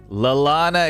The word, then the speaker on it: Lallana: be mispronounced it's it's double l lallana is correct greg adam lallana so